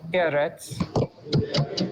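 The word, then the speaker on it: ארץ: And get the accent on the first syllable, eretz. Eretz.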